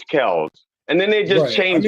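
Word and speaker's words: Kelce: put in put in the story that Travis Kel's last name is technically not pronounced Kelsey it's actually pronounced Kel now how can you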